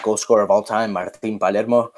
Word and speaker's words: Martín Palermo: scorer of all time, Martín Palermo. Sorry if I'm pronouncing these names in Spanish. I also speak Spanish. And in English, I would pronounce it Martin Palermo, I guess. No, go with the Spanish.